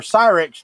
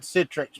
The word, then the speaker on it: Cyrix: 19 remember yeah well series or cyrix not Citrix my bad I I said it wrong but you're right it